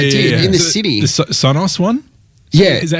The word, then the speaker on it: Sonos: The Sonos one. Is that how you say it? The Sonos one.